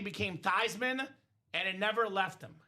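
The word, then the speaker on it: Theismann: So they suggested the PR staff, "Hey Joe, let's change the pronunciation of your last name." They said, "Let's change it from the toyman so we can go for Thyman for the Heisman."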